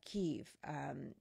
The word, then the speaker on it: Kyiv: But we're using Kyiv because that is our understanding of the way the Ukrainians refer to their capital city. Kiev is the Russian pronunciation, so that's why we're continuing to use that.